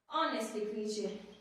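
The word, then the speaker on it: honest: आप सभी को okay ऑनेस्टली ऑनेस्ट okay this is ऑनेस्ट hair guy एच is silent H क्या है आपका साइलेंट वर्ड है ओके सो ऑनेस्ट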